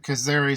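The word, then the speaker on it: Kayseri: you will note that the city of kazari sits right at the boundary of our core territory this is the turkish pronunciation of caesarea so just like israel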